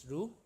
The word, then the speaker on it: Roux: Its spelling is something like ROUX, but it's pronounced as ROUX.